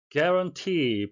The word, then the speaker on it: guarantee: guarantee, 발음에 의해서 되겠는데요. UA는 에 발음이 나고요. 강세는 뒤쪽에 있고 장음이 되겠습니다.